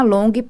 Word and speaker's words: Longhi: Você procura como Cristina Long Power Mind. Então, é assim, procura Cristina Long, que com certeza você vai achar meu aplicativo. Lembrando que Long se escreve L-O-N-G-H-I.